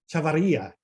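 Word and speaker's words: Chavarría: close. So close. Accents over the I. Chavarria. Chavarria.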